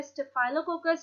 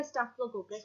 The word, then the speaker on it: Staphylococcus: इनको कहा जाता है स्टेफाइलोकोकस या स्टेफिलोकोकस, whichever you want to pronounce it.